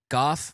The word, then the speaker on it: Goff: g-o-f-f yes goth golf golf rhymes with off just like this podcast